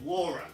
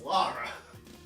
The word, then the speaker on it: Lara: Laura it's not Laura it's Lara it's like and sometimes